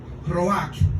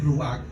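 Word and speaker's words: רוח: Roach en hebreo, se escribe Ruach, R-U-A-C-K.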